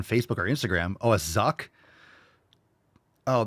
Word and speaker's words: Zucc: Oh, a zuck. Oh, that that's pronounced Zuck probably like Zuckerberg.